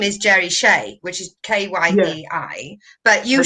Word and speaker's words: Kyei: because as you know my name surname which is k-y-e-i and pronounced che is therefore unpronounceable in